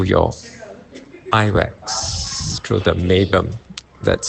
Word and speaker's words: meibum: Now, fat-soluble toxins in the eyes come out through your eye wax, through the meibum. That's spelled M-E-I-B-U-M.